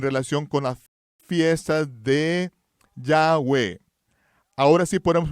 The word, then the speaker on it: Yahweh: y diles en relación con las fiestas de Yahweh Ahora sí podemos pronunciarlo correctamente verdad no solo las fiestas del